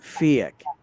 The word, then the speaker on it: PHEIC: presentation that is taking off from the last fiat report which happened on april the 19th 2021